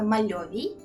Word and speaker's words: мальовій: челендж від команди мальовій Так саме мальовій правильний наголос Я почула в їхньому